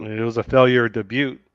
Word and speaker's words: debut: It's debut, debut. it's How much just money you want? debut. You don't pronounce the T, do you?